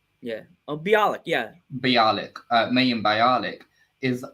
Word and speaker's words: Bialik: so amy farah fowler um mayhem i can't pronounce the second name balik yeah oh bialik yeah bialik mayhem bialik is actually a scientist